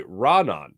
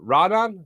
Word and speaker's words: Raanan: I go, Raanan? He goes, yeah. Put it, started. Put it. He's like, I don't even know if I'm saying it right anymore, but yeah, that's the way I'm saying it.